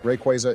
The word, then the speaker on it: Rayquaza: have to catch it it's pronounced Rayquaza no it's not you idiot let me guess you're one of those guys who says graer instead of grer Rayquaza is correct whatever I don't care